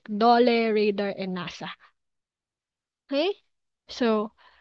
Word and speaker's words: DOLE: Like, for example, the word dole. So we don't say DOLE, we say dole for Department of Labor and Employment.